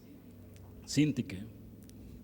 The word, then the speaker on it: Síntique: Yo tengo problemas con las graves, esdrújulas, sobreesdrújulas, y ayúdenme, ¿cómo se dice? Síntique. Evodia y Síntique.